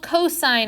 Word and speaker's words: cosine: have for the radius this is called cosine of theta not cos Theta pet peeve cosine